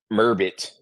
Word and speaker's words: Merbit: is about sirod or how do you say your name mbit okay him and like ribbit ribbit ribbit mbit okay what bullying I